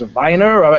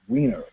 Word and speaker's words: Weiner: I said, "So, is it pronounced Viner?" He goes, "Nope. Wener. That's how it's pronounced."